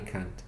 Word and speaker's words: can't: Can y can't. Yes, I can. Exactly. And the word can't is always stressed. I can't swim. Always stress the negative can't.